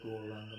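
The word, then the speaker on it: Gauranga: We're going to pronounce the Guranga mantra in 4 syllables.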